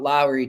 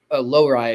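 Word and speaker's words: Lohrei: one thing I'll say about Lowry too that lowai I should say I always pronounce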